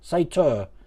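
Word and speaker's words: satyr: me have a look it's pronounced sator say tour sato say yeah i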